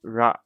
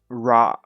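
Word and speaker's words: ら: which is the same it's pronounced it's pronounced so it's ra okay not raw that how many of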